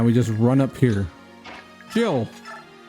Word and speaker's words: Jill: Jill. It's Jill or it could be Gil because there's a J. And it could be pronounced Gil. But it's very likely Jill.